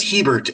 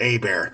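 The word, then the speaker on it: Hebert: Well, give us pronounce your last name for me. Uh, last name is Heert.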